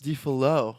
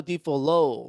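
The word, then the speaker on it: Folie à Deux: I think the X is silent. Say it again. Joker Deluxe. Defalo.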